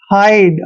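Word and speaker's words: hide: है करते हैं और आई डी ई का उच्चारण आइड करना है हाइड हाइड मतलब छिपना ठीक है ना देखिए नेक्स्ट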